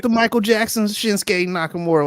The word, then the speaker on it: Nakamura: And how do you pronounce his name? Is it Akamura? Shinsuke Nakamura.